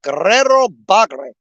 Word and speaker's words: Guerrero Bagre: Get to roll your R's. It's Guerrero Bagre.